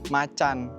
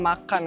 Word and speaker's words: Macan: bahasa kita Bahasa Indonesia Macan atau Tiger berarti kalau menurut gua ya pribadi berarti bacanya macan bukan makan karena dia aja ngambil dari bahasa